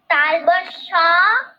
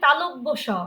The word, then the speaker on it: তালব্য স: দুটি বর্ণ যুক্ত হয়েছিল তালবস আর ম থ্যাঙ্ক ইউ মা তবে ওটা ওটা হবে তালব্য স বলতো আমার সঙ্গে তালব্য স তালব্য স হ্যাঁ এভাবে উচ্চারণ করবে আচ্ছা এবারে ঋধি বলতো